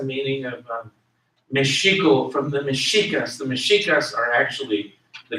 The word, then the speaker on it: Mexica: Mexica, M-E-X-I-C-A, M-E-X-I-C-A, and I'm pronouncing the X as an S-H. Mexica.